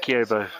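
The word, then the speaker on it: Kibo: That's how you say it, Kiyobo.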